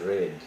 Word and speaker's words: read: one read remains read in spelling but the pronunciation this word is red this word is red wash what's ending with